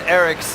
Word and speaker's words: Eryx: irks the Eric's Eric's I need to confirm the actual pronunciation of it is e-r-y-x I like to think that it's Eric's like you've got multiple